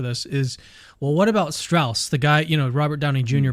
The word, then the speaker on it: Strauss: But Strauss, to use even though it's spelled Strauss, it's pronounced Strauss.